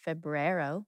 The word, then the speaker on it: febrero: Well, I know in Spanish it's febrero. It's the shortest of all the months. They do say the R in Spanish. It is febrero.